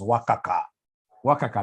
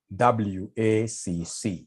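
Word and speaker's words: WACC: can somebody remind us here there's somebody who pronounced this as waka waka no it's supposed to be wac to get w we normally take the weight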